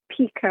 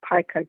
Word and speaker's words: pica: So, my question is people that have pica or pika depending on how you pronounce it.